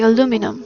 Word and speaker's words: aluminum: In the style of English language, because they say aluminium and the Americans say aluminum.